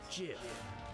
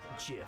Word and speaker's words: GIF: It's pronounced GIF. Huh? GIF, like the peanut butter. The creator said so.